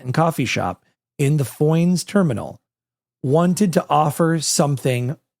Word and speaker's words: Foynes: Foynes.